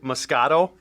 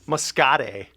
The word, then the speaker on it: Muscoda: i gotta note that i said musco moscato like a wine basically when i pronounced this last week it's moscate the city the town yeah needs a while at